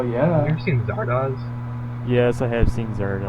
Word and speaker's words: Zardoz: ever seen Zardoz?